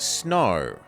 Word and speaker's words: snow: a i n and snow the W is silent first lesson complete congratulations